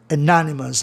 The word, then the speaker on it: anonymous: Anonymous, aí a sílaba tônica muda de lugar, fica no NO.